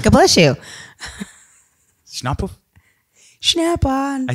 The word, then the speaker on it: Schnappauf: So today we have Heidi Schnappauf. God bless you. Schnappauf?